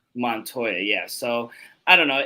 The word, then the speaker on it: Montoya: How do you pronounce his last name? Montoya. Montoya, yeah.